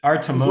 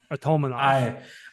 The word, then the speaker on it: Artamonov: Most Russian last names, harder syllable in the middle, right? Yep. So Artamonov.